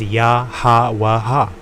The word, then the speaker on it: Yahawah: However, through the meaning and through the language, we determine how to pronounce it. So it's Yah and Hawa, meaning he exists.